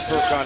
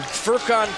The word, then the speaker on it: Furkan: Now, you said that 40 because you're waiting for me to pronounce Furkan Korkmaz. Bam. You good. Can I call him the hyphen? No. You called him, what was his name again? Furkan Korkmaz.